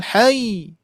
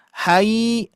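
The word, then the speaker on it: الحي: Wa tawakkal 'alal hayy. Oh, gitu, bukan hai, hai. Hati-hati. Ini sering terjadi ya. Dibacanya alal hai, alal hai gitu ya.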